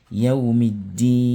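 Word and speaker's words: يوم الدين: Yawmiddini. C'est ni qui est à la fin. Mais puisqu'on veut s'arrêter dessus, ça devient quoi? Yawmiddin. On fait comme si c'était sukun qui était en haut.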